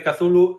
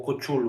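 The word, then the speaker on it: Cthulhu: A pronuncia canónica de Kazulu eh xa xa foi asentada por Óscar Jaenada en La herencia Valdemar e é algo así como co chulo ou algo así.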